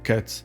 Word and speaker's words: kitas: They still pronounce kitas “other” or buvo “was” as kėts and bova.